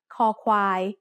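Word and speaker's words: ค ควาย: on the right side ko kwai ko kwai makes the sound when is the initial consonant in the syllable it sounds like the letter k in kite or the c in cub as a final consonant how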